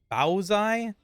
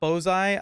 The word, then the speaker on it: baozi: name wrong as well it's panda baozi not bozei i i could be mistaken if if he sees